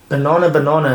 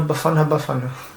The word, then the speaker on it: Bafana: Banana, they did well. They beat Namibia 3-0. Is that how it's said? I thought it's banana. No, Bafana.